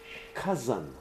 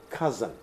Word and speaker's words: cousin: say what rights remember the correct pronunciation of this word is cousin cars on the sea so this is C's for answers what K all U is pronounced as aa and then there is an s in in Zen cousin okay there is nothing